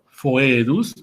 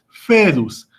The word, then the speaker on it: foedus: E juntas, es decir, foedus, y en la italiana o eclesiástica se pronuncia únicamente como E, es decir, fedus, que significa la alianza.